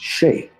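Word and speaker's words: sìth: It derives from the ancient Celtic word pronounced Shay.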